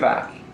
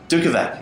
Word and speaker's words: Dukovac: Dukovac. Dukovac.